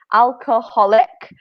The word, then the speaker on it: alcoholic: a drink with alcohol, there is an additional syllable. So it's alcohol. So alcohol, alcoholic, and non-alcoholic. So it's a little bit longer than the Italian.